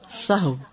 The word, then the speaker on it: سہو: سہو ہوتا ہے، سہو نہیں ہوتا. سب لوگ اپنا تلفظ بھی درست کر لیں. سہو جیسے لغو، ٹھیک ہے، کرب، نفس، سہو.